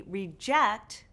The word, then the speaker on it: reject: which part is stressed: We reJECT the REject. We reCORD the REcord. We conVERT the CONvert. We inSULT someone with an INsult. Do you see a pattern here? Yes – these two-syllable verbs often stress the second syllable; the nouns often stress the first syllable.